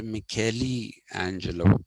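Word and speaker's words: Michelangelo: certainly in the league of people like uh Michaelangelo or it should be pronounced mikeli Angelo if it take the Italian pronunciation but it's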